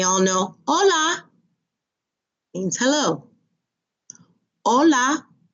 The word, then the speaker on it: hola: know hola means hello hola remember the H is silent hola next adios goodbye